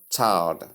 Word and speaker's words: child: Practice the I diphthong clearly. L, that is, the L sound is present in child. That L you see in child reflects in the pronunciation. It's not silent.